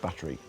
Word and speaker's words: buttery: Not battery, buttery.